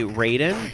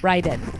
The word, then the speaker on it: Raiden: in chat too you you said you are bothered when people say Raiden but I thought that's what because he the announcer said how pronounced in the game but the actual legit way to pronounce that name is Ryden well because I'm thinking